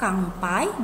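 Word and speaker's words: 乾杯: makan Hai Selamat minum kangtai ingat tadi huruf n di tengah apabila n ketemu P itu bisa dibaca M maka Kampai bisa dibaca kampanye seperti itu sudah Hai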